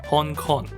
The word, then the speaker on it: Hong Kong: Japanese people read Chinese city names in English. Surprise, surprise. Hong Kong, for example, is pronounced "Hon Kon".